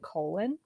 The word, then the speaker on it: Colon: Vimes leaves for the Night's Watch headquarters and we meet Sergeant Colon, which is spelled like a colon.